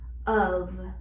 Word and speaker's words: of: F is in general a relatable letter with a notable expression in the word of, in which the letter F represents the V, of.